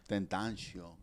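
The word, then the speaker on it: XXXTentacion: So how you say his name? XXX Tentacion. Tentacion. That's how you really.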